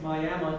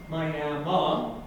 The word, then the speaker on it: Miami: the invitation from TEDx Miami today. I know it's pronounced Miami and not Miami, Florida, because my father Ramiro was born right here in Arizona.